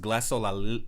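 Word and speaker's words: glossolalia: It's funny because there's this thing called I believe it's pronounced glassolalia or glassolalia, and that's actually what the actual term is for making mouth music.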